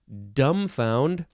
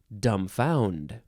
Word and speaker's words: dumbfound: it is one word you can emphasize either syllable dumbfound or dumbfound it is a ver